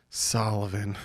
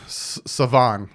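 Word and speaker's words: Salvon: four yards of carry sullivan savann sorry and pronounced his name wrong he at one point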